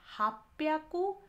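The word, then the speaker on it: 八百: तो यहाँ हम देख रहे हैं 300, 600 और 800 में प्रोनाउंसिएशन हम जब बोलते हैं ह्याकू के बदला यहाँ ब्याकू हो जाता है, यहाँ 600 में प्याकू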